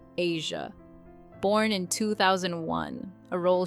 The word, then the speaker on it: Eja: Shania also became a mother to her son, Eja, pronounced Asia, born in 2001, a role she cherished deeply.